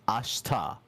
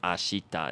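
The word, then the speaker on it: あした: all notice that like he kind of didn't really pronounce the she there it's like instead of ashita it's ashta like there's this thing in Japanese called high valid voicing and that's the whole reason why we don't really say the e sound there but all you have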